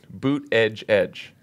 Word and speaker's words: Buttigieg: I had that anxiety for a long time, then once you figure it out, boot edge edge. That's the way to say it. Wrong. Boot it. Buttigieg.